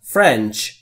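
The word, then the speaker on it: French: دقت بکنید نگفتن فرنچ تلفظ درست فرنچ می‌بینید که بین اف و آر صدایی وجود نداره ما هم صدایی اضافه نمیکنیم فرنچ یعنی ما فرانسوی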